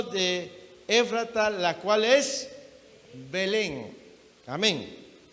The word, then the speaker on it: Belén: estas dos o tres porque esta es muda y se lee o se pronuncia belén pero en algunos lugares